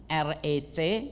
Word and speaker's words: REC: gereja reform Exodus community recc yang kalau dibacanya bukan R tetapi rec Biasanya kan kalau orang